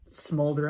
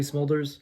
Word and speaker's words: Smulders: There's a line I always remember that I freaking hate, is when Colby Smolder, how do you say her name? Colby Smulders? Yeah, Smulders. Her character, she's explaining Quicksilver and Scarlet Witch, and she was like, yeah, he's fast and she's weird.